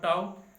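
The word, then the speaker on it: tau: इन सभी कम्बिनेशन के बाद जो टॉर्क आपको मिलता है, ये देखिए, ये torque टाउ। This letter is pronounce as टाउ। Okay, इसको टाउ बोलते हैं, टाउ।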